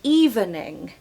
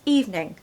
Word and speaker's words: evening: everyone wants to say evening but actually it's evening evening so evening stress the first syllable okay evening every evening